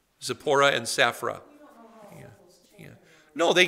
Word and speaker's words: Zipporah: was her name yeah or safra depending on your pronunciation skills yeah that's the same name zipporah and safra yeah no